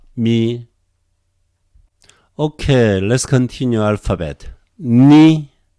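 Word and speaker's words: Ν: Ni is like English N, very easy.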